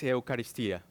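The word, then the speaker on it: εὐχαριστία: Something interesting that I found is that word in the Greek is Eucharistia. That's what it's, how you pronounce the word in the Greek.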